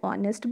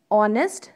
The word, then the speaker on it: honest: Because when we pronounce honest, the O is coming first. Means vowel sound is coming first. Honest. Okay. So that's why here H is silent and honest is there.